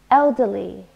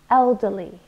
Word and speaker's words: elderly: I'm a former student elderly three syllables also stressed the first one elderly and it means old